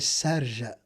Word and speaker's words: Sharjah: Let me pronounce it Arab version. I went Sharjah, and it instantly hit me.